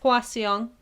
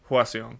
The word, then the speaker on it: Hwaseong: It's actually it's how you look at it. To be honest. Oh, really? So it's Hwaseong. Hwaseong. Yeah. Okay. Just a little bit faster. Hwaseong.